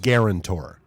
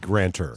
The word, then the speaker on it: guarantor: All right, so I am all about the syllable emphasis. It's a Yes. guarantor. Okay. Guarantor. You just keep saying grantor.